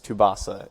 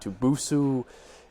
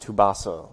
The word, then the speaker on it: Tubasa: boy, Tubasa, which is how you pronounce it, by the way. It is Tubasa. It is not Tubusu. It is not Tubusa. You can, for short, you can call me Tubbs or Tubby. That's what a lot of people call me online. But it's pronounced Tubasa, like Mufasa.